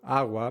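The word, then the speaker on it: agua: to say a a that's because the G in AWA is not the same as the G in or when a g follows a vowel or any consonant besides n it turns into a soft sound in American English we get a similar sound when we say the word sugar quickly sugar sugar and when a common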